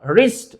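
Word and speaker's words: wrist: यहां पे W silent है। अब एग्जांपल जब सामने आ गया है तो बताता चलूं। अगर डब्ल्यू के बाद आर आता है तो डब्ल्यू हमेशा इंग्लिश में साइलेंट होता है।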